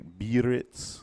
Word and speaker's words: Biarritz: You're Biarritz.